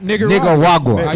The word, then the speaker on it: Nicaragua: They used how you pronounce it? Nicaragua.